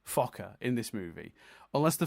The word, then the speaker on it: Fokker: on this movie because people weren't pronouncing Fokker consistently at all throughout the movie. There's a lot of Fuka and other ways of pronouncing it. So ultimately, they had to go back and do a few reshoots to get, or like ad libs, like ADR, to get Fokker right.